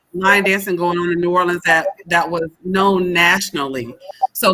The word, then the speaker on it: New Orleans: to see his city and enjoy Nolans, as he says it. All right, I probably can't say it like he says it, but to enjoy New Orleans.